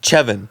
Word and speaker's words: Siobhan: say vibin does not say siobhan like where there's a v yeah where's the v and you're putting like a c as well yeah where's the sh like you sweet chevin when you like pronounce it like that and you know that